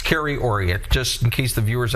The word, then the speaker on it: Kerry Auriat: We were talking earlier how to pronounce my name and I know you got me again. It's Carrie Ori just in case the viewers at home and I know you got it.